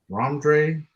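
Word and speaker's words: Rhamondre: Leading rusher for the Patriots was Ramondre Stevenson. That's how you say it. Ramondre Stevenson.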